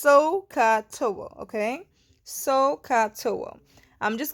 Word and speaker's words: SOHCAHTOA: and pronounce this so this hair is actually pronounced sohcahtoa okay so katoa I'm just gonna leave this